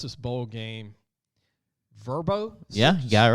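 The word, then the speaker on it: Vrbo: I'm going to try and pronounce this bowl game. Verbo? Yeah, you got it right. Verbo.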